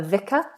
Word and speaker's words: vicar: I've heard priest being referred to as a vicar. A V, for those of you who have trouble with this particular sound, every V is bottom lip against the top teeth. Fricative, long and vibrating.